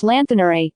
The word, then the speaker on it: Lanthanor: 12,000 years ago, then adventurer Lanthanor, pronounced Lanthanore, led an expedition to slay a dragon which was terrorizing this land.